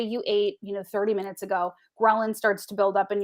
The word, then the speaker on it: ghrelin: And that other one that I can't remember or pronounce, Ghrelin. Yes. ghrelin? Yes, ghrelin. Think of gremlin, and that'll probably just confuse you.